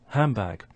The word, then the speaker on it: handbag: the B sound and it starts to change to a m so that's assimilation so we have illusion first followed by assimilation so it sounds like handbag and again I think